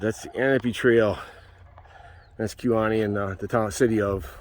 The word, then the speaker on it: Kewaunee: And it is pronounced Kewaunee, not Kewaunee.